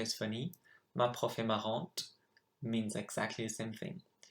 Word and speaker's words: marrante: Notice the difference as well between marrant and marrante. You add an E and you change the pronunciation.